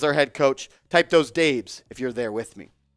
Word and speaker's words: Dabes: I know it says dabs. but that's how he spells it, and he pronounces it Dabes. Show our guy, Coach Dabes, some love in the comment section.